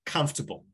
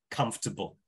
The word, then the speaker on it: comfortable: So yeah, stress on the first syllable, and it's super quick. Comfortable.